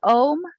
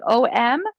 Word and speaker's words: om: chance we're doing is ohm like om sometimes people say it like ah om like it sounds like a-u-m some people say amen